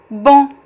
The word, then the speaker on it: bom: It can be just a single vowel, on, bom.